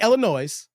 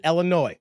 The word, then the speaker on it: Illinois: St I didn't say Illinois I said Illinois the S is Silent People remember that Illinois is considered a blue